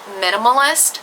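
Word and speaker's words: MNMLIS: the line is called Minimalist, but it's spelt m n m l i s. Yeah. So, they don't actually spell it as minimalist, but obviously that is what it's supposed to be pronounced as.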